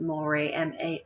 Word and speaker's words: mores: And a moray, or spelled here mores, we pronounce it moray, M-O-R-A-Y-S.